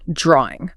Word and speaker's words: drawing: Drawing. Okay. Sometimes, especially in certain accents, you'll hear an intrusive R sound slipped in. Drawing. I've heard that. It's not spelled with an R there.